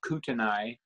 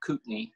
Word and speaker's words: Kootenai: today Pindar I'll actually teach you how to pronounce these range names like in Kootenai County it's people call that kutenai or something ordered I yeah but it's actually Kootenai didn't there's Bragg here an Indian tribe called